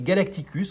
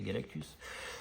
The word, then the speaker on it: Galactus: magnifique et géant Galactus, que j'appelais Galacticus quand j'avais 10 ans, parce que j'avais lu une syllabe de trop, hein, et puis pendant une dizaine d'années, je l'ai appelé Galacticus, et après un jour, j'ai dit, mais c'est pas Galacticus, c'est Galactus.